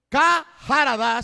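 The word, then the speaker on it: חרדה: Kaharadá sin la A después de la K. Por eso lo pronuncio, porque es la fonética.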